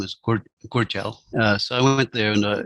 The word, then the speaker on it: Gudjal: longer able to communicate, and Rangi Pope, who pronounced his language name as Gudjal.